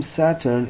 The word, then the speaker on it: Satur: Now the name Saturn in Chalde is pronounced Satur, but as every Chalde scholar knows, consists only of four letters, thus Stur.